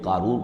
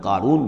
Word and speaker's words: قارون: اسی طرح کا ایک شخص جو ہے یہ قارون تھا اسرائیلی، اور نہ صرف اسرائیلی، حضرت موسیٰ